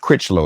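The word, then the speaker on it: Crichlow: paintings sketches a lithograph entitled Lovers by Ernest crito am I pronouncing his name correctly that's correct talk to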